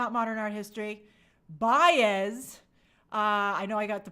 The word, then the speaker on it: Baez: Baez. I know I got the pronunciation right.